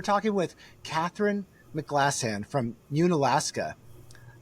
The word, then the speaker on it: Unalaska: I'm your host Andy Keller and today we're talking with Katherine Mclassan from Mun Alaska. Did I say it right? It's an Alaska.